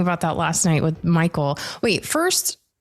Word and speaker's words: Michiel: were just talking about that last night with Michael wait first how do you prefer people say your name Michael is fine are you sure yes um okay